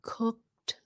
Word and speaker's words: cooked: um hooked it ends in that C Sound cooked so it sounds like a t at the end cooked other words where it